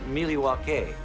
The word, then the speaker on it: Milwaukee: the city name milwaukee actually it's pronounced miliwake which is algonquin for the good land thank you very much